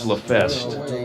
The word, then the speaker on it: LaFest: We did get pronunciation on that. It's LaFest.